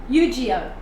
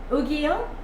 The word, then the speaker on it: Yu-Gi-Oh: As in gi, like your karate gi was a gi. Yu-Gi-Oh. Is that better? Yu-Gi-Oh.